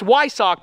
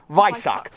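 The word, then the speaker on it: Weissach: the optional viso Pac the visce is that pronunciation right we I SS a CH H you'd think it's yck but it's vck vck now that was an $84,000 option it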